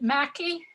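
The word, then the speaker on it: Mackay: And Adam, I think the family pronounced it Mackey Estate.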